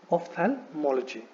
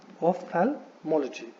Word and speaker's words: ophthalmology: नाउ इट इज नॉट ऑफ्थैल्मोलॉजी, it is ophthalmology. So there is no thala, so it is ophthalmology. Ophthalmology.